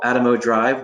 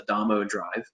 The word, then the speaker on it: Adamo Drive: right on this uh what we call atomo drive what should be pronounced adamo drive but was actually just